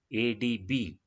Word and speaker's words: ADB: Second one is ADB, Asian Development Bank. Here also we are pronouncing the abbreviated form of letters by letter.